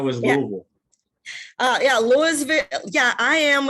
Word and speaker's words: Louisville: How was Louisville?